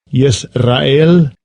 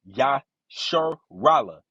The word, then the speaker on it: Yisrael: Yisrael. Yisrael. That's not how it's pronounced. Yasharallah.